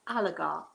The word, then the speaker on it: oligarch: for to most of you but it is pronounced oligarch so anybody know what it means chris if